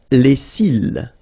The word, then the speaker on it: cils: Les cils. Les cils. Final S not pronounced. Les cils.